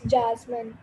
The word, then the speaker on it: Jasmine: name wrong i mean is it jasmine or just mean i'm so sorry amy it's jasmine okay sorry sorry i'll